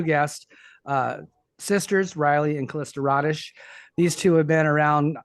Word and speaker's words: Rodish: It's Rodish. It is Rodish.